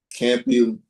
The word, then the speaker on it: Campylobacter: Experts warn that raw meat can harbor harmful bacteria such as Salmonella, Listeria, um, Campylobacter. Um, I can't pronounce this word.